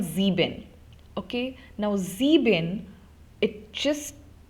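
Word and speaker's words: sieben: German the German uh number seven is called zebin okay now zebin it just it gives you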